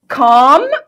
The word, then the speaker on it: calm: calm وقلنا اللي ما بتتنطقش، هادي.